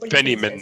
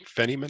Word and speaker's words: Feynman: Feynman, I think. Feynman.